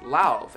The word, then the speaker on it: Lauv: His name is Lauv, L-A-U-V, and yes, that's how you pronounce it. I watched an interview and he's like, hey, my name is Lauv. And I was like, okay, it's not love, it's Lauv.